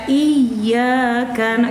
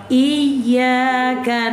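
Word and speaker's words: إِيَّاكَ: Jadi kalau baca iyaka jangan iyaka na, salah. iya. Nah kalau iya itu ditekan apa enggak? Kalau iyyaka na'budu ditekan apa enggak? Itulah bedanya.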